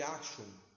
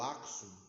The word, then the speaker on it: Axum: Que é o reino de Axum ou Axum, né? As pronúncias, às vezes você vai encontrar Axum ou Axum, então, enfim, é a mesma civilização, tá?